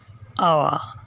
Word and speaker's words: hour: Here the word hour begins with the consonant H, but its pronunciation is just like the vowel A, hour, so N is used before it.